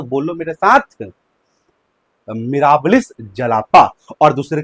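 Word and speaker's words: Mirabilis jalapa: अगर आप प्रोनाउंसिएशन सही से नहीं कर पा रहे हो तो बोलो मेरे साथ, मिराबिलिस जलापा।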